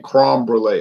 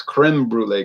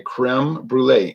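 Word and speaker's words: crème brûlée: to pronounce crem Brule because he's always saying crom Brule I say cro it's Creme Brule creme brulee and I was joking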